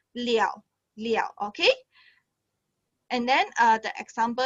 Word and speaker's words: 了: Okay, actually this one I not pronounce le already. We will pronounce liao.